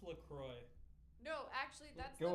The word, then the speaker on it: LaCroix: It's pronounced Lacroix.